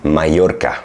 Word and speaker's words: Mallorca: Let's say in Spanish, you have the "ll" when you have two "l's," then it's pronounced as in “Mallorca”.